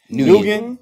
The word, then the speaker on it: Nguyen: Nugent? How you say it? Nguyen. Man? Nguyen. Nguyen. Yeah. The G is silent.